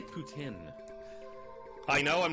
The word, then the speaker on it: poutine: I say it like as English as humanly possible. Oh no, I feel like that's the way it should be said. Poutine. Well, I mean, if it were to like catch on anywhere, people wouldn't say it with like putain. Like they just wouldn't say it like that.